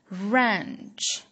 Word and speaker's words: wrench: the second one is ranch w r e n c h range the W is silent the third tool is